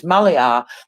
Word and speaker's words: Maliar: So she has the Y, it's Maylar. So Maliar. Sorry, when you have the Y there, it's Maliar, the way they pronounce it.